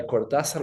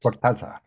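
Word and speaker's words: Cortázar: I just recently read a story by Cordasar. Where was that? Cortasar. Okay. Cortasar is the is the Spanish. Okay. The Spanish uh pronunciation, but I don't remember where it was.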